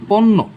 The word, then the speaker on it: পণ্য: যেমন দেখতে পাচ্ছি এখানে পণ্য, এই শব্দের শেষে কি আছে, জফলা আছে, সেহেতু এই শব্দের প্রথমে কি করতে হবে আমাদের পয়ের নিচে কি আছে, পয়ের নিচে ও লুকিয়ে আছে, আমরা কি ও লিখবো, ও লিখবো না, আমরা জাস্ট পয়ের দুই পাশে ওকার দিয়ে দিব।